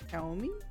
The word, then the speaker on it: Xiaomi: That's pronounced Xiaomi.